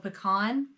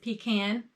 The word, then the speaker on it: pecan: caught my eye so this brown is called pecan or i guess pecan wherever you're from pecan is the right way to say it yeah that's how i say it too pecan it's also the